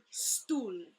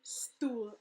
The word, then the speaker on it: stoel: Instead, they write it S-T-U-L, because the U and the O-E has the same sound.